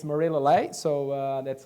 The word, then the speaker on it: Murilo Leie: But uh uh yeah and look it's Marilo Le. So uh that's how it's pronounced.